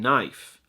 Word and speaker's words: knife: Some speculate, however, that this is a deliberate misdirection, as the author correctly uses the silent K in knife.